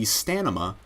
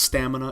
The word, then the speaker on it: stamina: stanima, it's not only spelled differently, but it's, like, said differently, too.